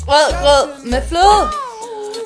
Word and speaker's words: rødgrød med fløde: Rødgrød med fløde. R-Ø-D-G-R-Ø-D space M-E-D space F-L-Ø-D. Just to spell it for you. Yeah, and you say it rødgrød med fløde and not red mad fløde.